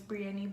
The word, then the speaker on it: Brianny: If y'all didn't know, it's not, it's Brianny. But people don't know how to pronounce it, so they call me.